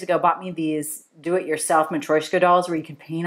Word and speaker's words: Matryoshka: Matryoshka is what the Russian dude on the Yahoos said.